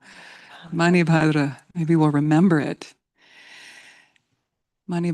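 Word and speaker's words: Manibhadra: Mani Badra. M A N I B H A D R A. Let's say her name. Mani Badra. Mani Badra.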